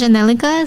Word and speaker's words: Zhanelica: it's Zhanelica. So it's spelled Zhanelica, and it's the same on all social media.